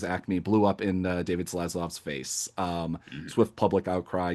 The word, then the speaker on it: Zaslav: Is a reminder that the guy that canceled Sesame Street, Yeah, David Slasloff. How do you pronounce Zaslav. it? Zaslav.